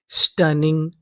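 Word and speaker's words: stunning: यहां पर जो हमारा यू है वो साइलेंट रहेगा। N हमारा 2 बार लिखा है। अगर आपको इंग्लिश के किसी भी मीनिंग में कोई अक्षर 2 बार लिखा मिले तो हम लोग उसका उच्चारण 1 बार करते हैं।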